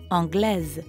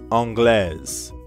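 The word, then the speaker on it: anglaise: english woman would say angles angles notice how you do pronounce the s in that case let's listen to two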